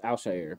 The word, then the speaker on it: Al-Shaair: And Al-Shaair Shahar, It's Al-Shaair.